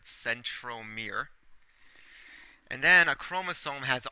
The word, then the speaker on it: centromere: called the centrom okay it almost sounds like the word Center a little bit but centrom Mir and then a chromosome